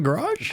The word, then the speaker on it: garage: So what's the actual pronunciation of that word, friend? Garage. The emphasis is on the A?